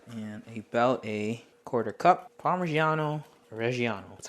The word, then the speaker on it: parmigiano reggiano: clove black garlic and about a quarter cup parmigiano reggiano that's how you pronounce it and then about a cup of